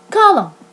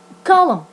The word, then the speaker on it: column: preceded by m example column column and n in this situation the N is silent it is not pronounced the second lesson is